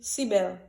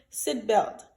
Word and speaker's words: seat belt: Moi entendez en pile côté temps pour mon dit seat belt, yo dit sibel ou tibel. Ça c'est pas moi hein. Je pour prononcer là c'est seat belt.